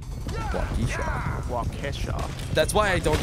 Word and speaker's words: Waukesha: Apparently I say Waukesha weird. You say Waukesha? Every once in a while. Yeah, no, it's Waukesha. Waukesha.